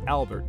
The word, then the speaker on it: Hebert: Next, we'll see Senator Preston of South Carolina, his benefactor, Joel Ponsett, and his boss, J.J. Hebert, which is now pronounced Albert to South Dakota residents.